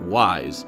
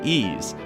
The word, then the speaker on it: Ys: would not make it wise so it remains based on its foreign pronunciation as originally intended so now that we've cleared up how to say ease how did you pronounce